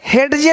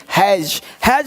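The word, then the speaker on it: hedge: नहीं पढ़ेंगे, ये पढ़ेंगे एज, यानी डी को साइलेंट कर दिया, एज मतलब किनारा। ये देखिए हेडजे नहीं, हैज मतलब झाड़ी।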